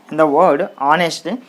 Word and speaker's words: honest: Here in the word honest, H is silent, we don't pronounce it.